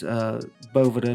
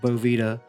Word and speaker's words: Boveda: I'm sorry I did butcher the Boveda name. It's Boveda, not Boveda.